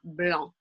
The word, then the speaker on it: blanc: We don't say the C, we don't pronounce the C. That would follow that exception. So you now are in the know of saying le vin blanc. Blanc. On ne prononce pas le C à la fin.